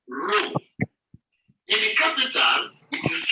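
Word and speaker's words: ρ: The 17th letter of the Greek alphabet is called rho. In the capital, it is written as the English letter P. It is pronounced as re, as you have in read.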